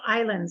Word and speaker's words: Islands: Zealand New Zealand the the second word is Islands it's got a second a silent s so can you start